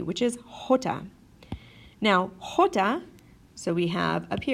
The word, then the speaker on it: jota: doesn't make a sound Jota does make a sound and the sound it makes is a nice ha for example in English